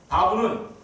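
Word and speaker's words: וָו: 이 바브는 아까 베라고 발음했던 바브 혹은 와우라고도 이렇게 발음하기도 하는데, 이 단어는 바로 이거예요.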